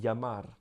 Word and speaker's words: llamar: Donc c'est, par exemple, llamar. On dit llamar.